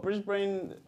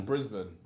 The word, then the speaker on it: Brisbane: can we say what Brisbane is that a man pronunciation Brisbane Brisbane yeah M A brisban you know God you still did I get that cuz what you saying Brisbane say brisban brisban you can have that you